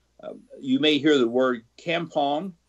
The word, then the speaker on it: kampong: You may hear the word Kampong, Kampong, also spelled with a C, Campong.